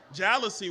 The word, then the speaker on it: jalousie: square-foot apartment with those old jalou- jalou- windows, jalousies? That's how you pronounce it, the jalou- jealousy windows.